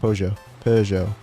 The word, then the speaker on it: Peugeot: Peugeot.